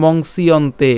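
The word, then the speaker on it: মংস্যন্তে: দুপুরতং monks ইয়ন্তেত এই জিনিসটাকে আমরা বলেছি কি মংসিয়ন্তে এই দুটো পর্যন্ত উচ্চারণ করতে এই যে পুরাটাই আমরা একসাথে উচ্চারণ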